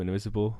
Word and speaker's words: Invisible: kind of, for example, the way they pronounce invisible in Radio Gnome Invisible. They say Radio Gnome Invisible. Ha! It has the French pronunciation.